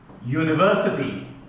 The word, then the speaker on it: university: an honest man okay similarly university although the letter is a vowel the sound is a yeah it's a consonant sound written phonetically like this with a lowercase j that is the sound for here for yes that is the sound for here in the international phonetic alphabet so oh university although